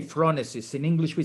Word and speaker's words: phronesis: first how do you in italian we say phronesis in english we say francis how do you say it in greek in